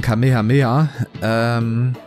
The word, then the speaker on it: Kamehameha: Ja, der Gründer von Hawaii, beziehungsweise der heißt anders, der wird nicht so ausgesprochen wie die, wie der. Also ich meine, ich gucke kein Dragon Ball, aber das kennt selbst ich. Ich glaube, der wird ausgesprochen Kamehameha.